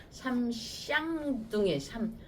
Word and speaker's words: 삼쌍둥이: 그 발음 조심하셔야 될 것 같아요. 쌍욕으로 들려. 쌍. 삼쌍둥이.